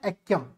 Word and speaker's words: एक्यम: लेकिन इसका प्रोनाउंसिएशन होता है एक्यम।